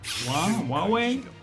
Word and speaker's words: Huawei: state of the art Huawei. I still don't know how to pronounce that. Huawei. Huawei. Huawei. One phone. That's what we're going to call it. Ho ho. Really? The U is silent. Wu way.